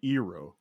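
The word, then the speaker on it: Iroh: pronunciation would be on the appropriate pronunciation would be eero for the uncle uh soka would be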